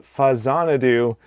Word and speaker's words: Faxanadu: And it's a Famicom version of Xanadu, so it's Fazanadu and not Faxanadu.